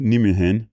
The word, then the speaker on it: Nijmegen: One tip for the name Van Roij or Nijmegen is IJ is pronounced as Y. So Van Roij is pronounced like Van Roy. Nijmegen is pronounced like Nijmegen.